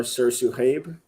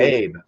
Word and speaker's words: sirsuhayb: So Sursu or Sursu Habe is just the longer version. Habe. Okay. Yes. I was like Hayab, Habe.